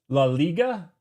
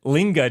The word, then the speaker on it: La Liga: Uh, I'm going to go with La Liga. Laiga. I have no idea. La Liga. La Liga. Ah. I don't know why I was putting N in it. I really linga just sounded good.